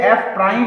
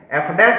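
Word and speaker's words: f prime: ये ध्यान रखना आपको कि ये f प्राइम x है, जिसे हम लोग f डैश x कह के काम चला लेते हैं।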